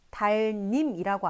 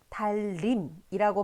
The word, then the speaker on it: 달님: 한번 구체적으로 살펴보면, 자, 우리가 달님이라는 단어 같은 경우에 실제로 발음을 달님이라고 안 하고 달림이라고 발음을 하거든요. 그러면 이때 달님으로 표기하지만 실제 발음은 달림으로 발음이 되기 때문에 표기에서의 니은이었던 것이 실제 발음에서는 리을로 발음되게 됩니다.